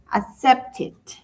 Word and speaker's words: accepted: ¿Cómo lo pronuncio? Con id. Accepted.